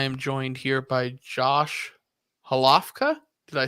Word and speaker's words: Hlavka: I am joined here by Josh Hlavka.